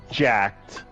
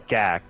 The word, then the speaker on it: Gak: I agree with Stupid freaking Jacked. No, Gak. That's how you pronounce his name.